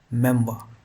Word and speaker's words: memoir: इसकी स्पेलिंग आप देख लीजिए MEMOIR, लेकिन इसका जो प्रोनाउंसिएशन होता है वो होता है मेमवा।